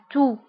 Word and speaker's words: toux: بالنسبة la toux تكتب بX آخر الكلمة ولكن لا ننطقها. نقول la toux.